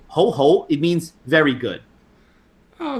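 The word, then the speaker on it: 好: It's a rising tone. So you just say it twice, because Chinese is like this. If you say it once, like ho means good, and if you say ho ho, it means very good.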